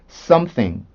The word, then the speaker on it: something: 근데 하나도 어려운 게 아니고요. 혀만 윗니와 아랫니 사이에 잘 올려주시면 정확히 발음하실 수가 있습니다. 자, 소리 들려드릴게요. something, something, something, something, something, something.